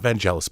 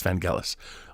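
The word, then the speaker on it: Vangelis: vanelis rest in peace it's not vanelis by the way it's vanelis I miss pron pronounce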